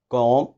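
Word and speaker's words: comb: And one thing more, M और B जब भी आ जाते हैं साथ, तो हमने M के बाद निकालनी B को साइलेंट करना है, जैसे बॉम्ब, कॉम, टूम, लिम, एटसेट्रा.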